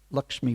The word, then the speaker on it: Lakshmi: But sadly, whilst away, the Lord's first wife, Lakshmi Priya, or Lucky Priya, if you speak Bengali pronunciation, passed away due to intense separation from her husband.